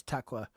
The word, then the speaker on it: Tekla: Is it like Tekla? Yeah, it's Tekla.